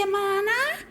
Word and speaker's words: Yamana: Shoei Yamana. Sound rhymes with banana.